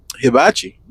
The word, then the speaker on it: hibachi: Hibachi. That's how you pronounce it.